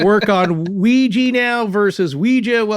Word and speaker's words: Ouija: still calling it the ouija board oh yes now how do you say it yeah i say it both ways and the company will popularly endorse both pronunciations oh see forrest wanted